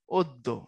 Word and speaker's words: অদ্য: অদ্য, এই শব্দের উচ্চারণ কি হবে? এটার উচ্চারণ হবে অদ্য। এই যে এটা প্রথমটা যেটা, এটা দিয়ে উচ্চারণটা করতে হবে অদ্য।